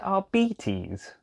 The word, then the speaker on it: Arbites: It's pronounced Arbites.